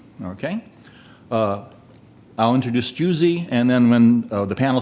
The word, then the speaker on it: Gyuszi: His name is Hungarian and it's pronounced similar to juicy, as in juicy fruit, okay? I'll introduce Gyuszi, and then when the panel starts, I'll introduce Jason Kane, the panel moderator.